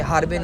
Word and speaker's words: Harbin: हरबिन हरबिन कहते हैं, हरबिन नहीं है, ये हार्बिन है। हार्बिन, अलिफ को लंबा करना, ठीक है, HAER, हार्बिन।